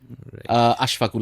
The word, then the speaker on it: আশফাকুল: উনি আমাকে ফোনটা দিচ্ছেন আমার নামটা উনি সঠিকভাবে উচ্চারণ করেন না আশফাকুল আমার নাম তো স্বাভাবিকভাবেই নামটা আশরাফুল 99% বলে ফেলে যখন নামটা রং বলে